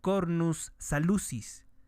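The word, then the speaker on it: cornu salutis: esta expresión que dice cornus salutis o cornus salucis sería la pronunciación en latín nos habla de enfermedad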